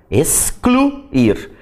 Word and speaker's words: excluir: Mas tem que observar o seguinte, que aí tanto o X que fica com som de S e o C, eles vão ser pronunciados. Excluir.